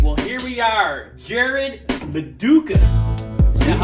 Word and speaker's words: Jarad Medukas: Jarad Medukas. Is that how you pronounce it right?